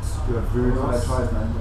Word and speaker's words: Sclavunos: New album, Burning Your House Down, produced by Jim Sclavunos, pronounced Sclavunos.